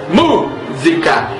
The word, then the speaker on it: música: música para mostrar que a palavra música é uma proparoxítona tendo como sílaba tônica a antepenúltima sílaba mu ao tocarmos não precisamos